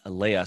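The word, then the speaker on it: Lea: and then and a and Leia think of like uh I guess I should say think of Princess Leia it's spelled differently but that's how you say it but it's it's actually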